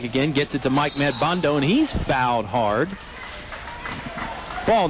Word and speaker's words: Madbondo: Well, it's spelled M-A-D-B-O-N-D-O. It's got to be Madbondo.